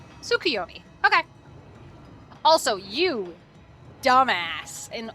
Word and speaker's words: Tsukuyomi: Tsukuyomi? Tsukuyomi. Okay. More of a Su? Oh, so the T is silent?